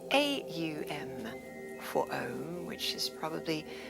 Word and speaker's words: Om: So if there are 3 syllables to the word Om, A-U-M, or Aum, there is a 4th part, and that is the 4th state of consciousness, stillness.